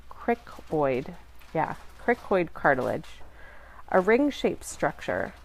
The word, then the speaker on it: cricoid: the cricoid cartilage let me make sure I'm pronouncing that right Crick Boyd yeah cricoid cartilage a ring shaped structure forms the lower